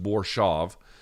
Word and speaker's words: Borshchev: They pronounced it Borshchev. It looks like it's pronounced Borshchev, but I guess it's just Borshchev.